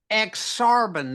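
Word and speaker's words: Ak-Sar-Ben: Nebraska to Chicago the aaran aaran nebras that's ex sarban the and that is I see not that is how it's pronounced I I'm so I'm not used to hearing it being yeah the ex arban Nebraska spell backward that's okay go ahead that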